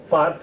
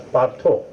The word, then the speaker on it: Partha: philosophy deeply into it in Bengali parth will not be pronounced as part it will be pronounced as partho so he is partho